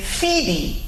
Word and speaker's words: Phoebe: Okay, so we have other words that are also spelled O-E, which are pronounced E. For instance, the name Phoebe, that's another good example.